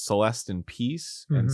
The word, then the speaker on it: Celeste: been informed go on Celeste impax mhm Pax is Latin for peace so it's Celeste in peace and Celeste rhymes with rest so it's like rest